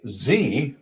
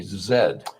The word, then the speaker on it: Z: So that's kind of and the letter Z here in the States we say Z. This one messes me up. So in the UK and Canada they say zed.